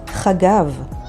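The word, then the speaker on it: חגב: Here's another word that starts with Chet, Chagav, which means grasshopper, and it's spelled with Chet, Gimel, and Bet.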